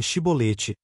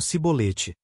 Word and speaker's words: chibolete: Eles capturam os valus do Jordão e identificam efraimitas fugitivos, pedindo-lhes que pronunciem chibolete, que significa corrente de água. Os efraimitas, com seu dialeto distinto, pronunciavam cibolete, revelando sua identidade e selando seu destino.